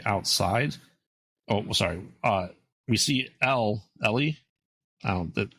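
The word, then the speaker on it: Eli: We see Ellie. I don't know how they say it in that movie. I don't know if they say Ellie. It's spelled E-L-I, but they say Ellie.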